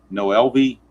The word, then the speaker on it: Noelvi: I'm pretty sure Marte is right. But I think it's Noelvi. If it's a different way to say his first name, let me know. But I'm just going to look at it and pronounce Noelvi. So, I don't know any other way to pronounce it. If it's out there, somebody